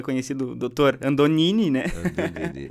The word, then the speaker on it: Andognini: Eu estava aprendendo a pronúncia do sobrenome dele, inclusive. Ademar Andonini.